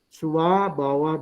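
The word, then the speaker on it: Svabhava: Ini V dibacanya W ya, W ya dibacanya. Seperti tulisan vihara itu dibacanya wihara karena V dibacanya W ya. Swabawa dhamma artinya segala sesuatu adalah dhamma atau dharma.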